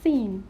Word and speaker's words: scene: you know subject science scene not skin this is scene seem manzar thank you